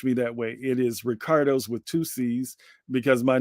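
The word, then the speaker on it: Riccardo: Italian and French spelling so it is r i CC a r Doo uh and that's Rick not rice not Rico not Ricky okay um but you can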